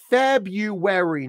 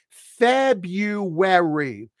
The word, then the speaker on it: February: month is pronounced as February notice there's a hidden y right there and a hidden W right there we pronounce this month